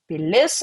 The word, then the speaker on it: pilis: Pilis, I added this like a bit. This is not a dot, this is stress mark. And the stress mark in last syllable usually means it's feminine.